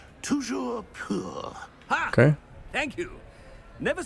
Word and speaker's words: Toujours pur: Oh, very Toujours pour? Toujours pur.